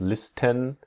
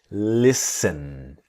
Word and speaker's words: listen: Now here in the word listen, the t is silent. So we don't we do not pronounce listen, but listen.